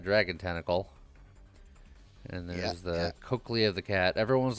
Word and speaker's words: cochlea: And there's the cochlea of the cat. Everyone's like, you should understand how to pronounce it because it's pronounced Coke, Lee, and Lee loves Coke, so.